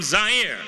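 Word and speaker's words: Zaire: coming to you live from zire some would pronounce its air they're wrong it got big laughs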